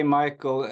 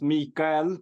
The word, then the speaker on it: Micael: Yeah, I mean, please say Michael. Here in Sweden, the name is pronounced Mikael, but no one calls me that.